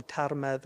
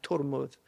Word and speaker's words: Tirmidh: عيسى al-Tirmidhi was from Tirmidh, which is in Central Asia, or it's also Tarmadh with a fatha and Turmudh. So there's like a different ways of pronouncing it.